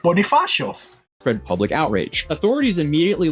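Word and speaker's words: Bonifacio: facing multiple criminal complaints following an incident at Bonafasio Global City that drew wides okay you you pronounced that right Bonifasio spread public outrage authorities immediately launched an investigation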